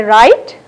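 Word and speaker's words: write: right when you say right only r i t e is pronounced but not the w so the w is silent the final word no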